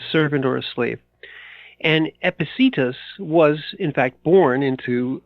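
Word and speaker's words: Epictetus: spelled as like as if you were to phonetically sound it out it's epic tetus which sounds foul my goodness it does but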